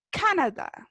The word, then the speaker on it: Canada: Marcamos la voz, ¿cierto? En la primera sílaba, Canada. ¿Ya? Como cuando uno dice Canada Dry, como cuando uno compra la bebida, ¿sí?